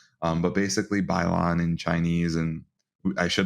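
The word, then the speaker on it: 摆烂: different name but basically bylon in chinese and i should have mentioned this when mike was on the episode he could have corrected us i think it's pronounced pylon but it means let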